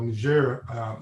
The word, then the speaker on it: Niger: in Bina Faso and Niger or ner is the French pronunciation we we use CI